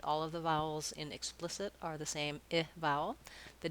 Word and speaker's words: explicit: length is different so explicit i want to think about the splis syllable being long the ick being very short and then the it